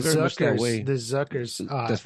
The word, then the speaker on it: Zucker: The Zuckers, That's right.